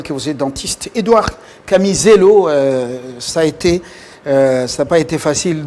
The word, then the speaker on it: Kamizelo: Édouard Camisello, ça n'a pas été facile de retrouver les noms. Je l'ai bien prononcé, Oui. Camisello. Exactement.